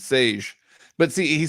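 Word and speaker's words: Šejić: His last name, though, how do you think it's pronounced? Do you know? I think it's Sage. You are correct. Yeah, you are correct. It's Sage.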